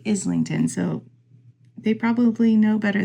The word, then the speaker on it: Islington: um by James Islington I keep wanting to pronounce his name isington cuz it's spelled like i s l i n you know um which